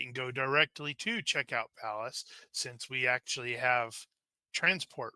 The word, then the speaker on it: Pallas: me and according to according to Google it is pronounced Palace and we know Google